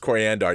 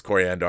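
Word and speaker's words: Koriand'r: his name is pronounced coriander yes yes it is yes like the spice it's not an accident that her skin is the same color as a spice yes yes it's true it is coriander I knew that but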